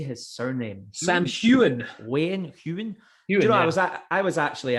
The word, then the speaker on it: Heughan: Sam Heughan.